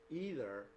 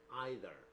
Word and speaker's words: either: pronunciation of this word there are two version of pronunciation some people pronounce it either other people pronounce it either either either are both